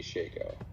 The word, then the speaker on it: Shako: I call it a Shico.